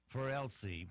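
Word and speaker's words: Für Elise: he is doing Beethoven's 4lc which is pronounced sort of like fewer and ELLs I guess anyway here's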